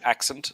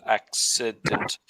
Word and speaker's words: accident: of the word accident you're saying accent not accident so there's an extra it in the middle accident and he said it